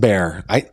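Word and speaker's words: Bexar: It's pronounced bear.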